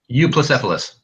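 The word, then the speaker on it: Euoplocephalus: He says basically, does he know the difference between an Ankylosaurus and a Uoplocephalus? Cephalus and Ankylosaurus, right? Ankylosaurus, and I don't know how to say the second one. Say it. Euplocephalus.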